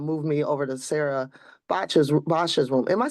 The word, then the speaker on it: Bosch: And so they kind of moved me over to Sarah Bosch's room. Am I saying that right? It's pronounced Bush because my family's Dutch and not German, but yeah, Okay.